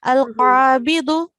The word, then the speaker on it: القابض: Just one thing, this is dal. So in Arabic, this is not pronounced with a buzzing sound. It is pronounced with a thick sound. Al-qabidu.